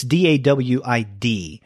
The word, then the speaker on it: Dawid: if he pronounced it David or Dawid. It's Dawid. But I don't know if the W is pronounced like a V in this case.